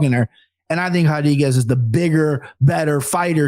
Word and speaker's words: Rodriguez: So give me Marina Rodriguez. You pronounce the R's with the H's, baby. Brazilian Portuguese.